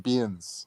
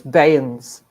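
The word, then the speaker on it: bairns: I don't know why they call them burns, but they call them beans. No, it's Bayans. Is that how you pronounce it? Yeah.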